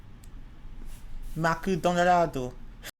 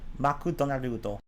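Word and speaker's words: マクドナルド: Maku Donarado. Oh, Donarudo. Sorry, I mispronounced that. Donarudo. Maku Donarudo.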